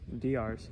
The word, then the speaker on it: Diarse: Is that how you pronounce it? I'm gonna help you. Diarse. Diarse.